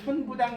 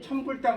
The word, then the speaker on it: 천부당: 이 글자는 지읒 앞에서는 불로 있는 거 아시죠? 네. 이걸 막 우리가 그래서 천부당, 만부당 하옵니다 이러잖아요. 맞죠? 이걸 막 천불당, 만불당이라고 읽으면 돼야 돼요. 안 되죠? 지읒 앞에서는 부예요.